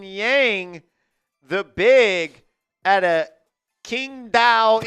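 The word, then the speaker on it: Qingdao: the big at a Kingdom Eagles. That's how you say it. Not the Wong Dong Tigers.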